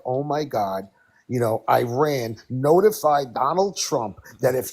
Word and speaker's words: Iran: He says it he says it with separation, too. Iran like dude, it's Iran.